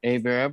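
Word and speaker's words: Hébert: it's Hebert I apologize oh I prefer Avera but I will take Hebert thank you very much for the French pronunciation yeah um I am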